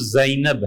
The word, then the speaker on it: زینب: حضرت عبداللہ ابن مسعود رضی اللہ عنہ کی اہلیہ تھی زینب. یہ اصل تلفظ زینب ہے.